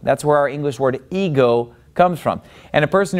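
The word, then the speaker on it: ἐγώ: Now, the word ego, it gets the accent on the second syllable. See, that accent is over the omega.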